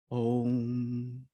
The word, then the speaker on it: Om: Now, how do you say Om? There is one big thing that is crucial. When you say Om, you breathe out. Om.